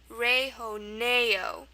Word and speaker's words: rejoneo: We have the A sound. The A sound in Spanish is going to be spelled with an E. So we have it here, we have it here. Rejoneo. The H sound is usually spelled with a J. We have that here as well. Okay, rejoneo. And then the O sound is going to be spelled with an O simply. O and O.